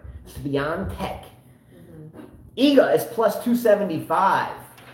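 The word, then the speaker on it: Świątek: Iga Swiatek. Yes, I said it with the N with no N in the word. Swiatek.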